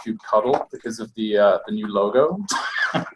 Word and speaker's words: kubectl: I think probably the most controversial change of the 1.14 release was that we now know kubectl is pronounced kubectl because of the new logo.